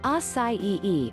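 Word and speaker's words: açaí: berries these grape like fruits pronounced acai e are often called a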